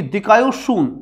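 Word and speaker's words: δικαιοσύνη: ये देखो ये दिकायोशून, इसको याद रखना, यहां कंफ्यूज होने की स्थिति होती है, अलग अलग शब्दों का अलग अलग उच्चारण होता है।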